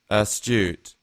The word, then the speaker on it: astute: here towards the end in British English would be like a u sound astute and an American English will be more like a u sound a stood astute um again the example